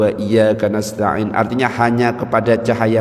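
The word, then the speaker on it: إياك: Kita ganti enggak pakai tasdid. Iyyaka na'budu wa iyyaka nasta'in.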